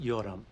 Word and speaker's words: Yoram: It is pronounced Yoram. Of course.